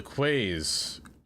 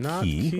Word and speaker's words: quay: Say it with me now. Yes, Jelly. They are Quay. releasing quays. Quay. Not key.